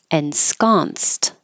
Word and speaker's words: ensconced: Ensconced. The ED sounds like a T because the ensconce last sound is a voiceless S.